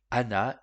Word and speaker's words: ענה: Dans le top 20 des racines se trouve celle qui commence avec la lettre Ain, qu'on ne prononce pas.